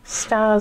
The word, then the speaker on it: S.T.A.R.S.: Because she is Stars a member of RPGs. S.T.A.R.S. which is how that's pronounced.